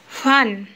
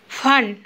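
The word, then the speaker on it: wann: ফান। আমরা সবাই আগেই দেখেছি যে ডাব্লুর উচ্চারণ সবসময় ফিয়ের মতো হয়, তো সে ব্যাপারটা মনে রাখতে হবে। এখানে ফান ফান মানে হচ্ছে হোয়েন, বাংলায় যেটা আমরা বলি যে কেন।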